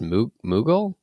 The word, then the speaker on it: Mughal: have some ideas i the whole is is pronounced moogle mughal empire yeah i'm no 100